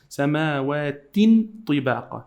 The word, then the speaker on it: سماوات طباقا: And we must hide this noon here because there is a ta after it. So when you have ta after any tanween, you have to hide the sound of the noon.